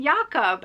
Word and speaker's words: Jakob: You know, how do you want your name pronounced? Because he's not English. And he said Jakob.